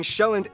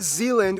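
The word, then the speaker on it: Sjælland: inhabited the largest island being shelland not zealand which is not to be confused with dutch zeiland which is not to be confused with new zealand although they did get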